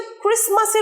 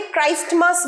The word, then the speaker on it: Christmas: তোমরা অনেকেই কিন্তু ক্রিসমাসের উচ্চারণটা ভুল করো। অনেকে ক্রাইস্টমাস বলো, ক্রাইস্ট আর মাস একসাথে ক্রিসমাস। টিটা silent. ক্রিসমাস, ক্রিসমাস, ক্রিসমাস। ক্রিস্টমাস নয়, ক্রিস্টমাস নয়, টিটা সাইলেন্ট থাকবে।